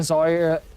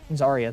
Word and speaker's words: Zarya: He'll push back some of the players very nicely as the Zyra. I don't know how to say it. Zarya, thank you.